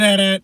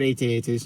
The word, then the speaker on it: AT-AT: battle with the AT-ATs or is it at? Because it's either or. I've always said AT-ATs. Because I know people who are like, no, it's pronounced at. I always say AT-ATs. You can say it either way.